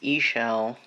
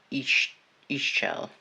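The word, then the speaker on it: Ix Chel: Try not to use the guidebook, but the pronunciation is Ishel or Ishel.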